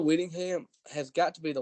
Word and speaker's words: Whittingham: good you know uh Kyle Willingham uh uh Whittingham Winningham Winningham yeah I mispronounced that Kyle Whittingham has got to be